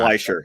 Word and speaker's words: Fleischer: Fleischer, yes. Fleischer. See, this is why you're here, Scott, to correct my my bad pronouncing.